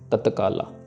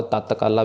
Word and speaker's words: तत्काला: यहां पे I guess जिनका पंजाबी बैकग्राउंड है वो शायद इसको तत्काला को ततकाला भी पढ़ सकते हैं इसको तत नहीं करना तत जैसे लिखा है वैसे ही पढ़ना है तत्काला कृपा दृष्ट तन